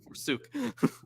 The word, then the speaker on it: forsook: That's the right way to say it. Forsook. Like soot. Forsook.